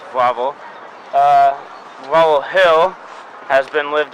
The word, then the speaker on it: Wawel: Okay, so we're in Wawel Castle, which as Sophia said yesterday, is spelled with W's, but they pronounce W's with V's, so it's Wawel.